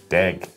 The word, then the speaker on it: dag: That sounds Afrikaans. Don't say it like an Afrikaner though. Say it like a Kiwi. Dag.